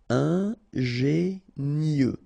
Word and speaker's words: ingénieux: Final X not pronounced, so I-E-U, I-E, nieux. Ingénieux.